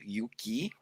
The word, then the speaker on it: Yuki: Pronounced, it was Yuki Buffet.